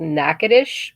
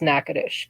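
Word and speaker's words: Natchitoches: some people that live in um it's called nacadish but it's spelled n a c h i t o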